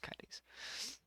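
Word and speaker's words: Kaedes: venom likes creature okay how do you spell it black k-a-e-d-e-s pronounced kitties he is a smoky venom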